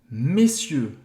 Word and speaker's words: messieurs: Qual seria a palavra mais próxima dessa pronúncia errada, messier? É senhores em francês. É messieurs.